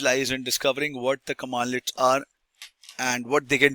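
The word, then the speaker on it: cmdlet: Next I'll tell you the locate commands commandlet it is so cmdle you have heard or read this word it is pronounced pronounced as commandlet which is a compiled command right.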